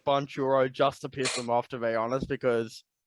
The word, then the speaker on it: Banchero: I'm going to say Paolo Banchero. I've heard it's Bankuro, is what I've heard.